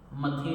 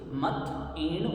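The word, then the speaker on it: मत्थएण: क्या तो निकलती है मथे बंदा ये गलत है मथे नहीं है ये मथन है अब मथन बोलने की भी क्या मिस्टेक रहती है हम इसको इस तरीके से बोलते हैं मथन हम थ के ऊपर एक ही मात्रा लगा देते हैं हमारी साउंड ये निकलती है मण मंदानी जबकि ये मण नहीं है मथ ण ये साउंड अलग अलग आने चाहिए मत ण बंदा मत ण बंदा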